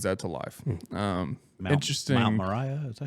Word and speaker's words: Moriah: Mount Moriah, is that how you pronounce it?